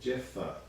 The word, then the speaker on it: Jephthah: out and they sought a mighty warrior called jeffer that's spelled j e p h t h a h so again jephthah he did not live with